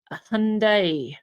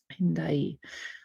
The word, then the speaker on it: Hendaye: Croix de Hendaye. It is like Hyundai. It's funny if you're saying it in the pronunciation that the Romance languages would give it. Hendaye.